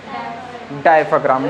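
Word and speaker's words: diaphragm: डायफ्राम।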